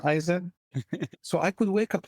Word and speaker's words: Eisen: better it's the whole notion of kaen in Japanese kind of rhymes with my last name aen so I could wake